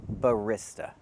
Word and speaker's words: barista: it in Italian, but in English we say barista. We use the long e sound like green beans. We don't use the short i sound like this is.